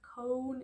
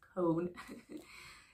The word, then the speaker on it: Kohn: with him talking and he says it's not con it's not Co it's not it's con so yeah I did a